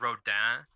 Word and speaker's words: Rodin: name comes from, but it's spelled Rodin, but it's Right. spelled like, it's French, so it's Rodin, but nobody says, like, nobody wants to pronounce it like a French person, so they just say Rodin.